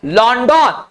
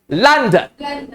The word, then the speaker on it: London: ओ को अक्सर जगह आ पढ़ते हैं अंग्रेजी में, LONDON, लॉन्डन, लंदन।